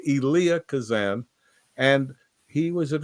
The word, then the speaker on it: Elia: guy was huge and his name is always pronounced incorrectly and he never liked that it's elah everybody says Elia Elia but it's elah Kazan and he was an extraordinary force of